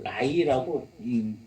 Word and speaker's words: Nye: NYE라고 하는데 이 학자 이름인데 NYE 이걸 나이라고 읽습니다.